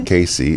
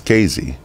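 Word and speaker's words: Casey: say KC you know it's not KC it's KZ that's right you know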